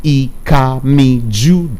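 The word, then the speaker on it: Ikami Judeh: For me, I am Ikami Jude. It's spelled IKAMIJUDEH.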